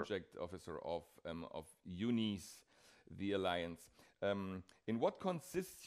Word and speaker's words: EUNICE: Actually, we pronounce it UUNICE. Or you can pronounce it UNICE or however you want to, but this stands for European University for Customized Education.